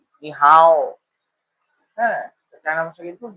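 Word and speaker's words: 你好: এটা চায়না ভাষা হচ্ছে নি হাও। নি হাও। হ্যা চায়না ভাষা কিন্তু নি হাও। এভাবে উচ্চারণটা হবে। নি হাও এরকম না নি হাও টান হবে তো হ্যালো যেরকম আছে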